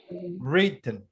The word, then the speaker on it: written: written. Written. Actually, it's pronounced written, like without the W.